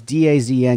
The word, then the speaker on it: DAZN: It's pronounced DAZN. It's DAZN.